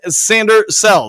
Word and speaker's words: Sainristil: correct with that Bailey Mike's name is pronounced sander cell thank you thank you